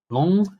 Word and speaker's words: Lens: Long. I think it's Pronounced Long.